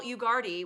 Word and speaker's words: Ugarte: Her name is Giselle Ugarte, which if you go to her website, you'll learn the pronunciation because it's like, Giselle, let's party. yeah. Giselle, welcome to the show. Rhymes with party, and we're going to have one today.